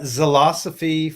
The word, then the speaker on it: Zilosophy: You can find me at Zilosophy for All. It's spelled like philosophy, but with a Z.